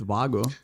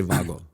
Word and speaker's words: Wago: But then one thing that was really interesting to me is that Wago, do I pronounce this correctly? Is it Wago? I would also say Wago.